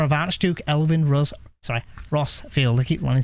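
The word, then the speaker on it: Rosfield: the iron Kingdom yeah I keep wanting to say it like rose felt like Rosefield but it's like it's rossfield I need to remember rossfield not Rosefield unless I initially read it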